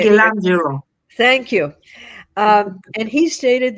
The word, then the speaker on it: Michelangelo: And there are times when Michelangelo, and I did not say his name correctly. Uh, would you say it? Michelangelo.